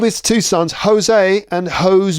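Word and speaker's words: José: and hose B so Jose is a common Spanish name Jose I'm probably pronouncing it wrong but Jose sounds in English like hose a Jose so right Jose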